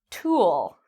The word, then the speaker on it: tool: Tool. That's a long sound compared to took. That's a short sound, a short vowel sound.